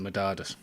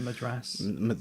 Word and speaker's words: Madras: the madadas that's the one because I can't pronounce the madadas no but what what do you call it the minute The Madras oh yeah the chicken Madras yeah so it's